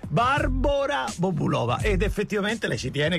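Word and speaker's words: Barbora Bobulová: barbora con la Ecco sappiate che il nome di Barbara quella che noi tutti abbiamo chiamato sempre Barbara Bobulova è barbora Bobulova ed effettivamente lei ci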